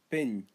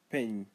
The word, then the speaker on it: pin: Pin, earth or ground. Pin, pronounce as pi in, pi in, pin.